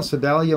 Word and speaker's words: Sedalia: Sedalia, Missouri? Yes, that's pronounced correctly.